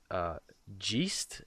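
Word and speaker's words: GEIST: faces of war and I think it's pronounced jeast it's GE ist these are two mods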